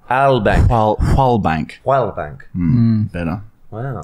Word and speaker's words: Wallbank: It's actually, and I think the W is silent. It's a James Zalbank. It's a W-A-L-B-A-N-K. Yeah. Try and pronounce it again. Wallbank. No, remember, silent W at all. Albank.